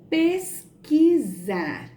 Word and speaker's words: pesquisar: Na palavra pesquisar, a vogal U não é pronunciada. Por isso, nesse caso, o grupo QU constitui um dígrafo, pois representa um único som.